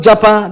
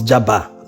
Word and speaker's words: Jaba: "It's not Japa," the LC Council responded. He continued, "We don't want to Japa. Japa is when you're leaving the country." The local government area the judge wanted to pronounce was Jaba, local government area Kaduna.